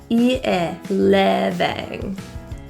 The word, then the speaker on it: living: The I in living, both in fact, are lower pronunciation. So that means our tongue is slightly relaxed. Instead of e, we slightly lower our tongue to living.